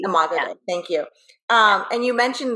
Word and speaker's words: Imago Dei: Imago Dei. Imago Dei.